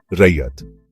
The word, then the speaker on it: रैयत: या अपने दादा-दादी से रयत या कभी-कभी इसे रयत या रयात भी कहते हैं।